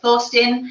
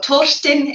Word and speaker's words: Thorstein: by a local chieftain called Thorstein, or Torstein if you are if you pronounce it correctly, which I never do, so apologies to anyone that is actually Scandinavian.